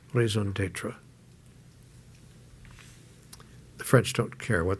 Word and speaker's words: raison d'être: to your uh as the French would say, raison d'être. The French don't care what they do as long as they pronounce it properly. I assume I pronounced that reasonably well. A raison d'être.